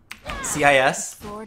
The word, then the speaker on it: cis: CIS? Yeah. It's pronounced cis? Yeah, like cis white scum or whatever.